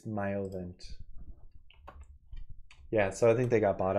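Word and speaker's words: Myovant: Miomo? Nope, it's Myovent.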